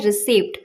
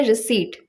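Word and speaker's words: receipt: यह वर्ड इतना कॉमन है, लेकिन फिर भी इसे लोग गलत बोलते हैं। इसे लोग मैक्सिमम लोग बोलते हैं रिसीव्ड। यह गलत प्रोनाउंसिएशन होती है इसकी क्योंकि पी यहां पे साइलेंट होता है। इसकी करेक्ट प्रोनाउंसिएशन होती है रिसीप्ट।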